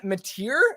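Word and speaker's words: Mateer: though Washington State and John mattier I believe is how we say his name yeah yeah yeah so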